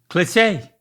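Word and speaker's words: cliché: it is kind of I would emphasize the first syllable like put more emphasis on the first syllable but say it how you said it cliche there it is you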